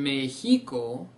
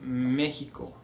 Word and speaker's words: México: So instead of saying Mexico, we see México.